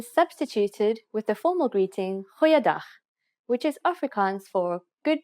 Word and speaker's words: Goeiedag: G. Try pronouncing it from the back of your throat. Goeiedag, goeiedag, ek is Anne-Marie Luck.